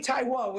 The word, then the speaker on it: Taiwo: Tomi Taiwo is how you say her last name.